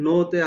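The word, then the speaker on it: know: যেমন নোতে আছে কে এন ও ডব্লিউ, উচ্চারণে নাই, তাহলে এটা কেন দিয়েছে?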